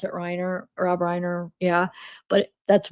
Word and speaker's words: Reiner: A lifelong family friend who lives near the Reneer Riner home.